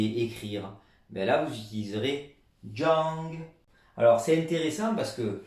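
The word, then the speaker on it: 张: Et ici, ce caractère tout seul, en forme de K majuscule, ben, tout seul, il se prononce Zhang ou Chang, comme le classificateur, le caractère lui se prononce Zhang, donc il a donné la prononciation.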